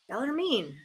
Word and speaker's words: Bellarmine: Bellarmine.